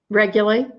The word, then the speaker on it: Reguli: as well as Connie Reguli, right? I said it right. Yeah, Reguli, regulate. like regulators.